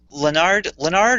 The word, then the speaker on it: Leonard: Um, So yeah, here we are with Leonard, or is it Leonard, or what Leonard. is it? Leonard.